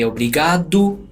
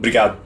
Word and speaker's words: obrigado: too is natives saying 'brigad'. Instead of like pronouncing every single letter - 'o-bri-ga-do', they'll say 'brigad'. R: 'Brigad'. It's like there's no vowel in the beginning or vowel at the end.